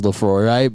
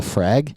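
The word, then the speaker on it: Laphroaig: every so often and she never pronounces laphroaire but that's all she drinks yeah she goes can I get the frag and I'm like yeah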